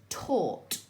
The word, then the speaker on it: taught: It is still your or sound, and this is the word taught. Okay, so now you know Sneaky Little Witch's trick with those two silent letters.